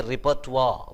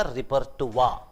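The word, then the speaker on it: repertoire: है, उसको इंग्लिश में रिपर्टोयर बोलते हैं। रिपर्टोयर, रिपर्टोयर, the spelling looks like रिपर्टोयर। रिपर्टोयर spelling में तो दिखता है रिपर्टोयर है, मगर प्रोनाउंसिएशन उसका रिपर्टुआ, रिपर्टुआ है। उसको रिपर्टुआ बोलना चाहिए।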